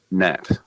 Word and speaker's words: gnat: If we go all the way through, my favourite, the word gnat, which actually starts with a G.